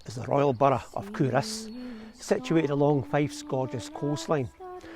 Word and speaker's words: Culross: This is the Royal Borough of Culross, situated along Fife's gorgeous coastline. Now I was calling it Culross, but apparently Culross is the way to pronounce it correctly.